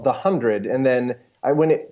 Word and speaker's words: The 100: CW The 100 I we're saying it right this time it's actually the hundred yes in the first season it was we were told it was the 100 and then we have been corrected since yes I think it